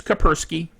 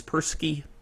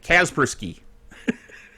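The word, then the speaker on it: Kaspersky: a good any virus I use kerski or kerski depending on how you want to pronounce it I know some people say caspri that's not right anyway so um it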